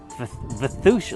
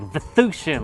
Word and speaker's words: Vithushin: I'm like, Vithushin, like you have to like emphasize the V, like Vithushin, like Vithushin.